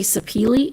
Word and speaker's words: sapele: And you'll hear it pronounced different ways, but apparently sapele is supposedly the correct way to pronounce it.